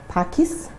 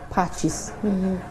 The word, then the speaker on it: Pacis: the correct pronunciation is patches just to help the viewers if you want to pronounce it well just add an h so that you have it as patches but in terms of